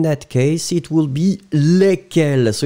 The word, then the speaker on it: lesquels: Lesquels. No S, you don't pronounce any S between the E and the Q. Lesquels.